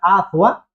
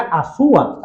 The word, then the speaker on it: Azua: Aunque los españoles fueron cambiando algunas cosas, porque el término que hoy se pronuncia con Z, Azua, era Azúa, con S, para poder imitar la forma en